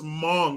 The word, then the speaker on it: Hmong: his life clint eastwood chad says pronounce mong sorry word police mom hmong